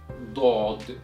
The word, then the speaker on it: ض: So this letter is pronounced as Daad, Daad, Daad, Daad, Daad.